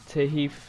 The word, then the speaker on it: Tahith: gonna be his virtual pro look alike uh tahif thief that's if you didn't know what to spell that's his first name and chung the alpha